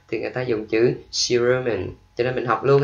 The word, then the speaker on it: cerumen: Chữ tiếp theo mình đọc là cerumen. Cerumen, nhấn âm giữa ha. Cerumen. C ở đầu mình đọc là C.